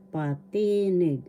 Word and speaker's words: patinig: Inagalog patinig patinig first syllable pa second syllable t third syllable need the accent is in the second syllable patinig patinig that's vowels.